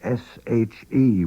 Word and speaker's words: she: emphasize something we can use the word she s h e which is pronounced she which can be translated as it